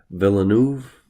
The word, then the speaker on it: Villeneuve: But this Spanish fellow, Denis Villeneuve, I believe is pronounced, this guy is a total genius.